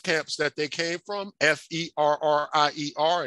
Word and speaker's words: Ferrier: that they came from, F-E-R-R-I-E-R, and that's how you would pronounce it, kind of like that water we, you know, some of us drank Perrier water, Ferrier.